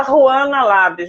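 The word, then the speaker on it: Juana Llabres: Se escrever, se fala Ruana Labres, mas se escreve Joana com J-U e 2 L's, L-L-A-B-R-E-S.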